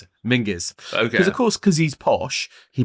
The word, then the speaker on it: Menzies: Stuart looks like Menzies, but it's pronounced Mingies. What? Stuart Mingies. Really? Yeah, Mingus. That's how you pronounce it. Mingus.